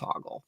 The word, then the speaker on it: Hoggle: or whatever you want to call him it's Hogle but that's the running gag in this movie